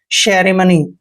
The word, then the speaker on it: ceremony: दोस्तों मैंने आपको बताया कि सी के बाद ई आता है तो सी का उच्चारण श करते हैं, और ई को ए की मात्रा पढ़ना है, आर को हमने रे पढ़ना है, ई को फिर से ए की मात्रा पढ़ना है, सेरे, ऐसे सेरे सेरे। MO का उच्चारण मैं करते हैं, एन को न पढ़ना है, वाई को ई की मात्रा पढ़ना है, सेरेमनी।